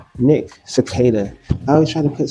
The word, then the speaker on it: Sequeira: Nick Cicada. I always try to put some accent behind it. I don't know why it's that Q. Well, the accent is the uh the R is pronounced like D.